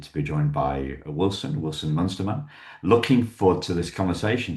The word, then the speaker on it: Munsterman: Wilson Munsterman. Or Munsterman, how do you say it? How do you pronounce it?